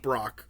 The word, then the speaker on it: Broach: I think you said Brock. It's pronounced Broach in the audio.